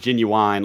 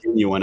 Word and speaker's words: genuine: genuine guy you know it's just a wrong emphasis but it's pronounced genuine apparently I didn't find